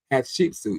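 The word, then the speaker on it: Hatshepsut: Pat Shepsuit.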